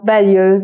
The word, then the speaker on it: balayeuse: Balayeuse, on prononce balayeuse, donc j'ai besoin de la balayeuse, j'ai passé la balayeuse.